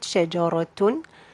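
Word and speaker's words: شجرةٌ: You have 2 dhamma at the end of the word, shajaratun. So you pronounce noon, you say shajaratun.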